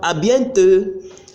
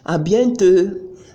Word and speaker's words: à bientôt: We also have à bientôt, à bientôt, à bientôt, see you soon. If you could notice, you see that the last T in à bientôt and the last D in à plus tard, I didn't pronounce them.